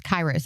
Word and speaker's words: Kairos: So where did the name Kairos say Kairos Kairos I talked myself into the wrong name. Kairos Counseling come from? Yeah, it's okay. The the pronunciation is different depending on where where you hear it from um and so is